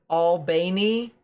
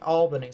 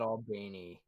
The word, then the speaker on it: Albany: the time fra comes from albany georgia is pronounced albany so you guys pronounce it albany but up top up north they pronounce it albany so i'll i'll remember that all right pronounce it all beanie you need to not